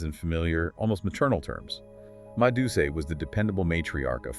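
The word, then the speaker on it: Ma Deuce: Madus, pronounced Madus.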